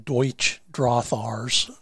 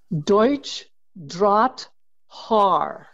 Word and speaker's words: Deutsch Drahthaar: pet peeves is how many people call them Deutsch Drahthaars. And let's just, from a judge in the German system, Lynda Krull, please pronounce the dog's breed name correctly. Deutsch Drahthaar.